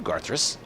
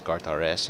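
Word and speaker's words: GRS: what else is new GIS and I will tell you because first of all my name is not GIS it's G RS and if you're going to say it please say it correctly because I have a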